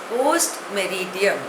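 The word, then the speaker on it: post meridiem: Pronunciation is post-meridium.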